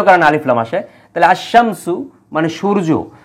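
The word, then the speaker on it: الشمس: হচ্ছে আল ইনসান উচ্চারণ হচ্ছে তারপরে আল বায়ান উচ্চারণ হচ্ছে আবার আশামসু এই জায়গায় কিন্তু লামের উচ্চারণ হচ্ছে না শুধু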